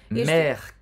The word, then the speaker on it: mère: Mère, caissière, a mesma coisa. Mère, caissière. E observe que o E no final não é pronunciado. A gente termina a pronúncia no R.